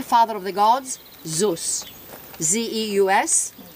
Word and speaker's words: Zeus: Z-E-U-S, spelled, pronounced Zeus in Greek, Jupiter for the Romans.